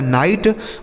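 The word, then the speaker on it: night: इस आई का उच्चारण आई हो जाता है। जी एच टी से हमें ट पढ़ना होता है। यह लिखा गया आपका नाइट मतलब क्या होता है?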